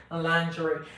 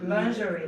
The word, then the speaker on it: lingerie: we know she is the british pronounce it lingerie lingerie luxury lingerie lingerie american american people i i'm american you know i like i like american pronunciation than british i don't really encourage